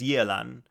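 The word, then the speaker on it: Yelan: Like the actual Chinese, it's yalan. But we'll close kind of that. But yalan is how they pronounce it in the game, but they pronounce it wrong in the game. So, I kind of just do the actual correct pronunciation just cuz like I want to try to pronounce pronounce it closer to how the name actually would be pronounced in Chinese.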